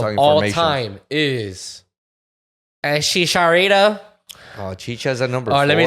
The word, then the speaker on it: Chicharito: time is Chicharito. Oh, Chicha's at number Or 4. let me say it the way Why the the fuck British. is- Let me say what the British say. Just Chicarito.